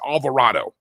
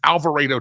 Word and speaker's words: Alvarado: Uh the ambush at the ICE facility in Texas, I keep hearing people say it's Alvarado, like avocado, and you would absolutely be incorrect. In Texas, that is Alvaro, Texas.